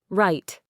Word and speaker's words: right: Silent W, often before R or in specific words. Right. You only hear right.